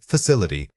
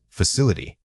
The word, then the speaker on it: facility: Wrong, facility. Right, facility. When speaking academic English, it is easy to rush the middle syllables.